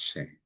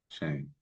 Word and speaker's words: Shem: And this is actually pronounced Shame. Shame.